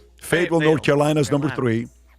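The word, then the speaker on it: Fayetteville: Fet uh Fet uh how do you pronounce it? Fatville. Fateville North Carolina is number three.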